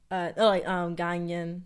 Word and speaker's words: Ghanaian: Ghanaian.